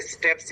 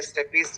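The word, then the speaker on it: stapes: और सबसे छोटी हड्डी हमारे कान में पाई जाती है, जिसे स्टेप्स या स्टेपीज कुछ लोग प्रोनाउंसिएट करते बोलते हैं।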